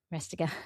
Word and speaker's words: Rastegar: Is that how you pronounce it? Ari Rastegar. Rastegar.